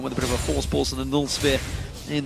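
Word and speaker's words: Voorspoels: For anyone that wants to know how to pronounce his surname, just say Force Pulse. Say it like you would say Kassadin with a bit of a lisp.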